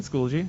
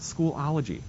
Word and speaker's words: Schoology: He said Schoology. It's not Schoolology. This is Schoolology. That's Schoolology. That's not how it's spelled. That's Schoology.